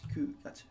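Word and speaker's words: 九月: However, you need to pay attention to April and July and September, which are pronounced shigatsu. Shigatsu, shichikatsu, and gatsu. Okay, so we're using the other reading for shi and chichi for 4 and 7. And then instead of Q, it becomes Ku gatsu.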